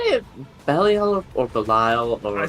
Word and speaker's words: Belial: I say Belial because the movie, like the movie Basket Case, the killer parasitic twin is named Belial. It's spelt the same way. They say Belial, and I'm like, yeah, his name's Belial.